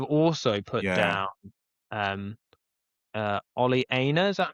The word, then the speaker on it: Ola Aina: I've also put down um uh Ola Aina, is that how you pronounce it? From Forest. Ola Aina, yeah.